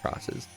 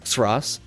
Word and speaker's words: Xros: So that every time you see that X, that's for cross. I used to pronounce it Xros, not because I thought that's how it's pronounced, but because I just liked saying Xros. But if I was to do that all throughout this video, I would lose my mind. So I'm just sticking with cross in this case.